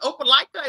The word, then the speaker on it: Opelika: I saw on your bio that it said, is it Opelika? Is that how you pronounce it?